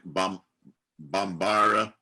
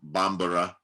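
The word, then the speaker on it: Bambara: like a khan arabic bombara actually that's pronounced bombera english france hausa ki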